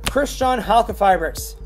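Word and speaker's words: Crystron Halqifibrax: heavenly spheres for the dragon AXYZ targets one Christian health of favorites yes that's how you pronounce its name it has a name stop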